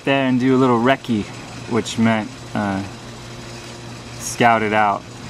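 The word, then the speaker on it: recce: 16 inch ad s reki rifle a reccy rifle spelled our ecce pronounced reki not Reese I mean you can say it however you want but it's it's reki is British for reconnoiter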